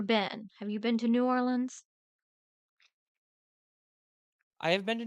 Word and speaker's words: New Orleans: it huh new orans it's not new orans it's n New Orleans and it's Louisiana it's